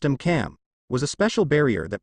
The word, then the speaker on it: AMCM: The anti-magic countermeasure or AMCM, pronounced AMCAM, was a special barrier that protects the Skinfax C from any known magical attack that was used by the 3 factions.